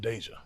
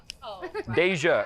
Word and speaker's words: Deja: in the black community, it's pronounced Deja. Deja is how they say it.